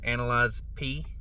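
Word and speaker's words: Analyze Piss: So, season six, I got the highs or I don't say this word, so I'm just gonna say analyze P, but it's really, you know, it rhymes with analyze this.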